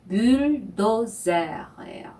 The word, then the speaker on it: bulldozer: 네, 불도저라는 영어 단어를 프랑스어식으로 발음한 것이 le bulldozers예요.